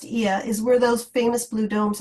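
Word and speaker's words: Oia: trying to do the town of IA which is that o i a it's pronounced I is where those famous Blue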